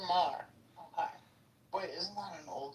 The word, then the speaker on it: Maher: I see Wayne Brady went after Bill Moyer. How do you say his name? Moyer. Moyer. Saying he's a racist. Bill Maher.